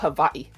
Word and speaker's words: Hawaii: A lot of Hawaiians actually don't say the W, funny enough um because of their accent. So it comes out havi.